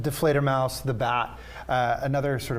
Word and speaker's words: Die Fledermaus: thank you for having us so this production deflator Mouse I I said it right absolutely okay wonderful